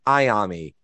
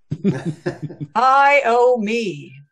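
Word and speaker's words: Iommi: it pronounces it correctly otherwise instead of tony iaomi it says tony iami idiot i owe me like i o i owe you nothing hyomi uh old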